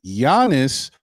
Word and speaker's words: Giannis: Let me pronounce his name the right way. Giannis, or run it back with the new coach.